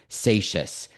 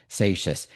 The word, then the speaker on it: Seixas: His name was Gershom Mendes Seixas. That's how you pronounce it, even though it has an X. Seixas.